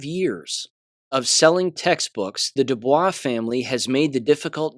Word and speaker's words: Dubois: this one is the Dubois bookstore. People pronounce it Du Bois, but that, of course, is incorrect. It's pronounced Dubois.